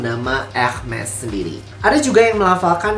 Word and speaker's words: Hermès: dari pelafalan dari Yunani, Hermes. Tapi kalau kita berbicara dalam konteks brand, dan ini brand yang berasal dari Prancis, maka aku akan menyebutkannya menjadi Hermes. Hermes.